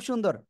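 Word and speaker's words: سين: যা মাশাল্লাহ খুব সুন্দর এই একই জায়গা থেকে এই অক্ষরটা আমরা উচ্চারণ করব এই অক্ষরের নাম কি সিন সবাই একসাথে উচ্চারণ করেন ও এ অক্ষরে কিন্তু চার আলিফ টান সিন ঠিক আছে আবার বলেন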